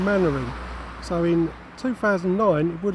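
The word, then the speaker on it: Mainwaring: showed Dad's Army now the main character was always pronounced Captain mannering so in 2009 it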